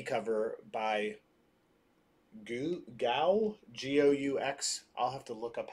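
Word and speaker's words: Goux: So here's the A cover by Carrie, and here is the B cover by Gou, G-O-U-X. I'll have to look up how to pronounce Go.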